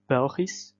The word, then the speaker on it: Belgisch: We would, for example, have Belgisch of Belgische. This SCH comes at the end of the word and would cause an S sound to be pronounced.